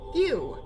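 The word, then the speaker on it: Yuu: You. Not you. Because his name is spelled Y-U-U, because we can't have nice things.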